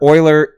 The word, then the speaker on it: Euler: the mathematics that we know today so remember euler is the way to pronounce this and this lecture i went and